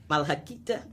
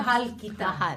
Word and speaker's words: Mahal kita: Malakita? No. Yeah. Mahal kita.